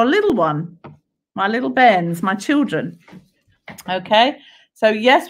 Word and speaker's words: bairn: So b-a-i-r-n, bairn, which is like, I think it's a Scottish term for a little one. My little bairns, my children.